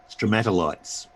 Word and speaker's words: stromatolite: strobo stroma to light stromatolites yeah that word it's your meta lights well a stromato like tomato stromato okay two lights yeah